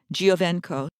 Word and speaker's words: Giovenco: The surname is spelled G-I-O, V like Victor, E-N like Nancy, C-O, Giovenco.